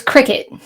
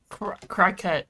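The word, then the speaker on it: Cricut: machine can understand um it's cricket it's how it's pronounced i know i didn't i didn't know that until the sales lady said it to me i said crockett and then ian said crecat and i was like which is it and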